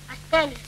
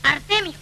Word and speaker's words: Artemio: Él ha dicho que siempre debemos de ser Astelio. Se dice Artemio.